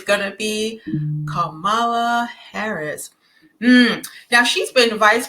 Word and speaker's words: Kamala: I don't understand why everybody keeps calling her camela or C I think it's it's Camala so because they mispronounce it so often I end up mispronouncing it also but um her name is uh Camala Kamala Harris okay all right so um as we